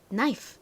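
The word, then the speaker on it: knife: 어떤 알파벳이었죠 바로 k입니다 k와 ne 함께 쓰일 때 k는 소리가 나지 않는다라고 말씀드렸었죠 자 그리고 나이프이니까 모음 부분이 I 소리가 나죠 아이 소리가 나는 알파벳은 이름도 똑같은 아이이죠 그리고 나이프 바람 빠지는 소리가 왔네요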